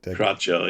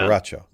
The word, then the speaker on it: Carroccio: Carroccio, is that right? Carroccio, yeah. Carroccio. Yeah, Carroccio.